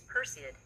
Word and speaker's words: Perseid: name of the medeia shower how do you pronounce that word the meteor shower you're referring to is announced as perid it's one of the most popular and well-known